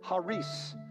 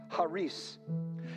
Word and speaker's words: charis: Some people name their daughter charis. Some people pronounce it charis. However they pronounce it. Actually, in Greek, the K would be silence. So you'd pronounce it haris, haris.